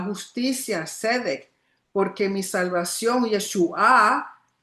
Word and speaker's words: Yeshua: Dice Hashem, guardad Shomer el derecho MPAT y practicad a la justicia Sedec porque mi salvación Yeshua, Yeshua con el acento en la A. Yeshua, no Yeshua.